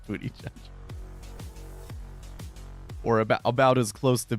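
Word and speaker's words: Buttigieg: pullback that's funny is it really pronounced a booty judge yes it's really pronounced booty judge or about as close to booty judges you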